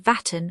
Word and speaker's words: vatan: The Turks pronounce it Vatan, which the French have turned into Vartn.